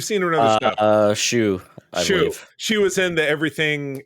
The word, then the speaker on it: Hsu: How do you pronounce that? You've seen her in other stuff. Shu.